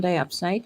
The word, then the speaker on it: diopside: All right, that's the chromium diopside. Is that how you say it? Yes, chromium diopside.